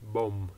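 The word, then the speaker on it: bóng: The pronunciation and spelling, but the first word in southern Vietnam is pronounced bom, as if it was B-O-M.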